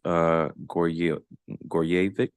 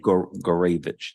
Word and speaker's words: Gorevich: Let me go to Gorjevic. Is that how you pronounce it? Let me get it right. But it's all good. Gorevich, thank you.